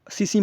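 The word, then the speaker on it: tsetse: तो सोने की बीमारी जो है ये सीसी मक्खी के काटने से होता है। इसको इंग्लिश में अगर लिखा जाए तो TSE, टी साइलेंट होता है, सीसी मक्खी के काटने से होता है ये सोने की बीमारी।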